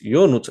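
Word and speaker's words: Ionuț: My name is Yonut actually, but the this name is so hard to pronounce that everyone calls me from foreign countries.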